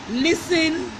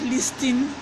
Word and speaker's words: listen: Wednesday not wetness day listen and fasten not listing and fast listen the T is silent fasten the T is